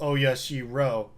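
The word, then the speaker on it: オヤシロ: The only thing all time periods could agree on is that the 4 syllables Oya-shi-ro are always used.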